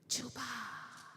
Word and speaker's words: Juba: Juba. Ah, yes. But we say it like this. Juba.